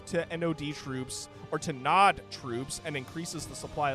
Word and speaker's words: Nod: and a lowercase OD I assume it's meant to be pronounced nod not nood so I don't think